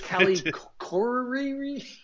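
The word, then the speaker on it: Callie Khouri: Okay, so anyways, it's Callie Corey.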